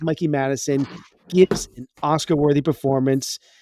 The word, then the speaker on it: Mikey Madison: that I didn't know Mikey madis I think it's Mikey Madison givs an Oscar worthy